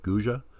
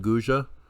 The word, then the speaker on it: Guge: These are the ruins at Guge, and I've heard it pronounced a few different ways, but that's what I'm going to go with, Guge.